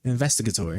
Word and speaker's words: investigatory: Is that investigatory? Investigatory. Oh, okay. I guess it is. That is how it's said.